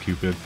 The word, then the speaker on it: Cutpbud: It's written Cutpbud, but apparently it's pronounced Cupid.